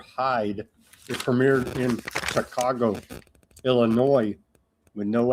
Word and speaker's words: Illinois: It premiered in Chicago, Illinois with no S. The S is silent.